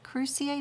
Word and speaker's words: cruciate: pronounce it crew C8 cruciate is like the cruciatus curse just a little bear